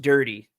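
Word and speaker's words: Durde: as the head coach and then ah, it's pronounced dirty.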